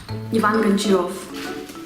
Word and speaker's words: Ivan Goncharov: I will say it with my Russian accent because it is Russian author, therefore I may do that. And I'm having such an advantage above all other English-speaking people now, so I can pronounce it.